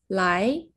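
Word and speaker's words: 来: 오다라는 의미의 단어 라이 오다.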